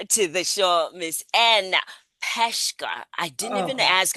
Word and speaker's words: Peshka: Welcome to the show, Miss Ann Peshka. I didn't even ask how we pronounce it.